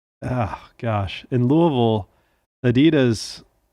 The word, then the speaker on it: Louisville: go Louisville and that's how you say it Louisville yeah in Kentucky and this is of course